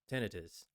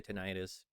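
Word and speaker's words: tinnitus: That's how it's supposed to be pronounced. But a lot of people say tenitis.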